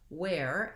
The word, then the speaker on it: where: Then these two words, where, as in where are you, and where, I'm wearing a fleece, have the same pronunciation. They're both air diphthongs, and so I have the tense A into my air, where.